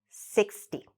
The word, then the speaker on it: sixty: you say them now 16 60. so what you want to do is to make sure you elongate the first one and really shorten the second one 16 60.